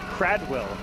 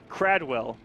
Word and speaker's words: Kradwell: And confirmation from some admins, Kradwell is the actual... That's what I thought. Is the actual correct pronunciation. Kradwell rolls off the tongue a little bit easier, but Kradwell.